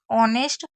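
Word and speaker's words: honest: एच शुरू होने वाले शब्द एच का उच्चारण नहीं होता। मतलब आपको मैं एक सिंपल तरीका बताती हूं। कुछ ऐसी वर्ड मीनिंग है जिसमें एच को नहीं पढ़ा जाता। अब वो कौन सी है? एक है एयर, ऑनेस्ट, ऑनर, आवर। तो ये चार ऐसी वर्ड मीनिंग है जिसमें एच को आपको नहीं पढ़ना है।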